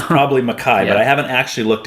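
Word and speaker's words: MacKaye: I think I just I've been saying McKay my whole life and I think I just learned well I shouldn't say I just learned yeah I'm hearing people that I respect that know more than me saying Maki so I'm starting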